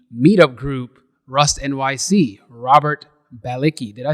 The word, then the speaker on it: Balicki: last name is pronounced it's pronounced balitsky in polish but it's so weird to go from english diction to polish diction so like whatever people